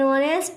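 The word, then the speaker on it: honest: जहाँ पर हमारा एच साइलेंट रहता है और फिर उसके बाद जो हमारा स्वर है, जो हमारा उच्चारण निकल रहा है वो स्वर में है, वॉवेल में दिया गया है, तो उससे पहले हम एन का प्रयोग करेंगे ना कि ए का।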